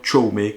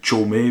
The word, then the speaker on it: Jaume: plus de son réalisateur chome colollette serat oui je dis chome parce que je prononce à la catalan comme il se doit bon ce sinast squat